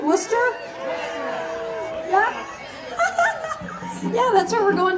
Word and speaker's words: Worcester: you'll come see us again somewhere you Wooster tomorrow night are you coming monster am I saying it right Worcester yeah that's where we're going tomorrow night come